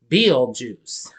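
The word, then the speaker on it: Betelgeuse: first they are unaware his name is pronounced Bill juice which is why they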